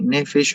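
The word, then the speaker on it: נפש: Nefesh se escribe con P, pero se pronuncia con F, nefesh.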